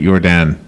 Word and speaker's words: Yordan: Yordan's name correctly, or is it Yordan? No, it's Dr. Yordan. You're pronouncing it perfectly correct, yes.